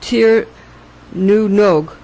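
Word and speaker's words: Tír na nÓg: In Ireland, instead of, quote, "to the land of youth," unquote, we say, quote, "to Tir na Nog," pronounced Tir nu Nog, which means literally the same thing, but has powerful legendary associations.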